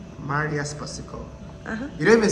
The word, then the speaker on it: Spasikova: The lady herself, her name is Miss Marija Spasikova.